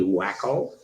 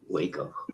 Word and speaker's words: Waco: I always thought Americans spoke phonetically. Wouldn't that be wacko? I'm going to wacko. Waco, wacko, Waco. Take off, eh?